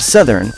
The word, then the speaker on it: southern: word as disease the mispronunciation of southern stems from the fact that south is pronounced with a diphthong or a gliding vowel sound of ah or al but for southern you lose the diphthong and just go with the short vowel sound of you we won't blame you